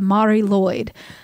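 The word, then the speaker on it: Mari Lwyd: But the pronunciation that I got from YouTube was the Mari Lloyd.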